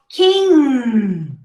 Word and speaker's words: king: What I'm trying to make you pronounce is king. See, it's a little longer if you compare to K-I-N. You say king, but you stop before you pronounce the G.